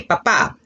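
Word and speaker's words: papá: dad el papa now it's very important that you accent the a papa if you don't say papa and say papa you called your daddy a potato papa is potato and papa is dead you have to use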